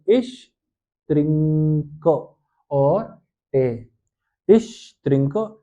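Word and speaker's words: Tee: ई लगाया था, इश त्रिंक और टे, इश त्रिंक टे। ये स्पेलिंग मिस्टेक नहीं है, इसको जर्मन भाषा में टे ही कहते हैं, टी डबल ई पढ़ते हैं, ठीक है, टे।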